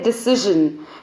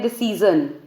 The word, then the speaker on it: decision: ऐसे ही जो वर्ड है डिसीजन, काफ़ी लोग इसको बोलते हैं डिसीजन, which is incorrect. The correct pronunciation is डिसीजन. एक तो सी नहीं है, सी है, और दूसरा ज नहीं है, ज है. सो इट्स डिसीजन.